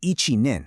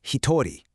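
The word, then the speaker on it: 一人: Now, you might be tempted to say ichinin, right? Actually, scratch that because this is our first irregular counter. One person is pronounced hitori.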